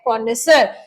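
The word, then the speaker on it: connoisseur: ये वर्ड है कॉनेसर, इसको बोला जाता है कॉनेसर। इसकी जो एक बार प्रोनाउंसिएशन है उसको डेफिनेटली लिख ले, दैट इज कॉनेसर, ऐसे बोला जाता है इसको।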